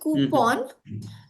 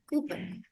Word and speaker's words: coupon: accents and that is when it comes to coupon they use it as P A W N the end part right coupon but it's actually just P O N pun coupon a simple